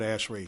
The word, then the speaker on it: ASHRAE: and air conditioning engineers so we call it ashrae so you can't pronounce